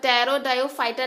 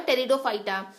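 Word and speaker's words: Pteridophyta: टी ई आर आई इसको आप टैरो फाइटा नहीं बोलोगे ये होगा टेरिडोफाइटा क्योंकि इसमें पी के साथ जब आप टी लगाते हो तो ये साइलेंट हो जाता है ठीक है तो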